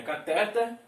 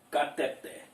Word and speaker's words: cateter: a pronúncia caracteres e a respeito da palavra catéter que todo mundo fala na verdade Esta palavra não é cateta e sim cateté então chegamos ao final